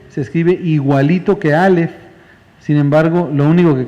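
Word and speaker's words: אָלֶף: la palabra mil es la palabra elef elef se escribe igualito que alef sin embargo lo único que cambia es la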